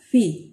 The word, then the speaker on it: fi: lío la letra fil la letra fi es parecida a nuestra f pero fíjense la diferencia nosotros la f la pronunciamos mordiendo el labio inferior con los dientes la fe en cambio es una aspiración y se articular con los dos labios sin intervención de los dientes si traten de hacer